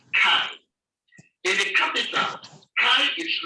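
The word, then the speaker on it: χ: The 22nd letter of the Greek alphabet is called chi. In the capital, chi is written as capital letter S of the English language, and it is pronounced as you have in chemical.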